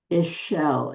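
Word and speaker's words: Ixchel: Because the X would be like ishel. Isel the weaver.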